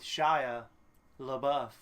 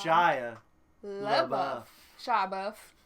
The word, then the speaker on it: Shia LaBeouf: the saga continues with shia labeouf thank you for saying it correctly this is shaya buff sean buffet that shy buffet kid um what's his name